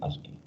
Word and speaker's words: ASCII: La se pronuncia así, ASCII. Ahí dice ASCII.